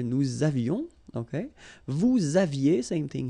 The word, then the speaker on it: nous avions: So j'avais, final S not pronounced, tu avais, il avait, final T not pronounced, nous avions, let's make this beautiful liaison here, nous avions, okay?